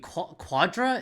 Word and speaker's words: Quadra: really toxic no jimothy Quadra is how you say it but I was going